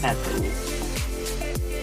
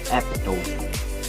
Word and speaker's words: epitome: And last but definitely not the least, we have epitome, not epitome. And I have story about this word because way back senior high school, I used to pronounce it in the class as epitome because back then I want to be an